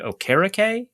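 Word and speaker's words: Okereke: expected more from okay so the the announcers pronounce it Bobby o'kara Kay is that yes yeah should we've expected more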